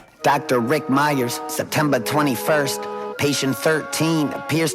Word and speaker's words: Meyers: I wasn't Before I wasn't sure if like I was pronouncing it right, but it's clearly Myers. But, they had m y e r s and m e y e r s, but same same thing.